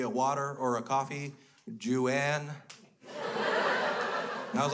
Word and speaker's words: Juan: Juan is spelled J-U-A-N. And if you sound that out in Caucasian ignorance, you get Ju-an. It's not. Remy, it's not Ju-an.